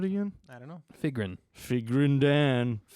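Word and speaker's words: Figrin D'an: Figrin Dan.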